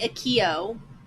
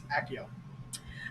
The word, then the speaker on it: Accio: Okay, I like the the Akio. Accio? Like the Harry Potter spell. Accio. Accio? Akio. I had a student named Akio. Spelled the same way. But it's Accio.